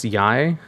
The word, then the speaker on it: Yae: How do you pronounce Yae?